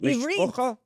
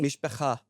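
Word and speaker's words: מִשְׁפָּחָה: Mishpocha? Yeah, that's in America. Okay, but if I wanted to say it like an Israeli. Mishpecha.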